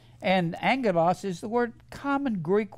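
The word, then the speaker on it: ἄγγελος: word Angel always remember it's merely the word Angelos a g g e l oos 2 G's together is pronounce NG NG Angelas and Angelos is the word common Greek word for messenger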